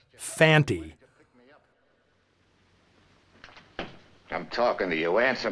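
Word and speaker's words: Fante: I saw this movie, I'd assumed Lee Van Cleef's character was named Fanny, since that's how both Earl Holliman and Brian Donlevy always pronounce it. It's only when Conte speaks the guy's name does he clearly say Fanty.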